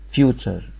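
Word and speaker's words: future: دلوقتي اسمه تشر فالكلمه فيوتشر فيوتشر يعني مستقبل نشر يعني طبيعه نشر الكلمه الاخيره نشر يبقى عرفنا تي يو ار ان سوري تي يو ار اي بتتنطق شر طب بدل حرف التي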